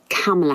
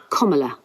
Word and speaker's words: Kamala: I tell you what it's not. It is not Kamala Harris. It is not Kamala Harris. It is Kamala Harris, according to her own memoir in 2019.